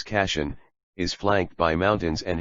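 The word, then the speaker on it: Kashan: over the brown plain casheon pronounced in persian as cassian is flanked by mountains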